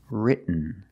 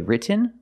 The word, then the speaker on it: written: you either example written written so you can say written or written written is more common just don't say written it's written let's look at some